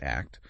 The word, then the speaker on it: ACT: It blends acceptance and commitment therapy, ACT, pronounced ACT, with neuroscience and uh sematic approaches focusing on the body.